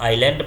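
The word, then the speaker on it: island: yes silent भी है इसको पढ़ेंगे तो आइलैंड पढ़ते हैं यस नहीं बोलते हैं इस तरह से ये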